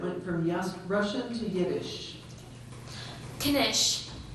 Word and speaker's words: knish: Knish. Language of origin, please? This is from a word that went from Russian to Yiddish. Knish. K-N-I-S-H.